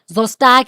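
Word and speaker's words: Szostak: So the answer is Zostak and colleagues. Okay, S is silent.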